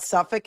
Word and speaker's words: Suffolk: Like, is there a county anywhere in the US that is spelled Suffolk, Suffach?